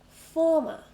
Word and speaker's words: former: Former, 2 syllables, and we stress the first one.